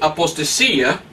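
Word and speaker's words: ἀποστασία: Pero es interesante que en el griego, la palabra aquí, apostasía, se escribe apostasía, así. Apostasía. Apostasía pronuncia en griego. Apostasía. Pues es igual en español, apostasía.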